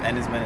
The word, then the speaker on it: Enys Men: don't even know if and his men is how it's pronounced it's Cornish for stone Island oh yes but yeah